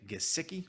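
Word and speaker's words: Gesicki: logan thomas number eight mike gisiki hard g number nine robert tanyan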